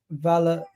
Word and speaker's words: Valladolid: Real Valladolid. How do you pronounce this name?